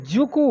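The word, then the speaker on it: Dzükou: तो इसमें जुकू वैली ध्यान दीजिएगा, ये आपका क्वेश्चन पूछा जा सकता है, डी साइलेंट है, जुकू घाटी।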